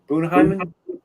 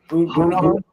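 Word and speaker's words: Bunnahabhain: Bunaheimen. Bunahaven.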